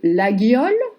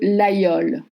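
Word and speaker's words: Laguiole: a well-known city, and some people would say la Guiole, other people would say l'Aïole. The spelling is with G-U, la Guiole, but l'Aïole is also used as a local pronunciation. Now the matter hasn't been settled yet. So you can say la Guiole or l'Aïole.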